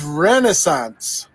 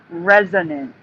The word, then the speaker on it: resonance: He did pronounce it wrong. Resonance. Sorry, go on. Not Renaissance.